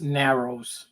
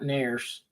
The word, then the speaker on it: Narrows: cuz I don't yeah it's Narrows not Nars Nars and narrows is two different things I'm sorry man yeah